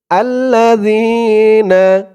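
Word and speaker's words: الَّذِينَ: পরে ইয়া সাকিন আর এই জালের উচ্চারণটা একদম নরম পাতলা হবে জিহ্বার মাথা উপরের দাঁতের মাথার সাথে লাগবে না আল্লাজিনা এক আলিফ টান জবরের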